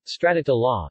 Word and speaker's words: stracciatella: Stracciatella, Italian pronunciation, stracciatella, is a variety of gelato, consisting of milk-based ice cream filled with fine, irregular shavings of chocolate.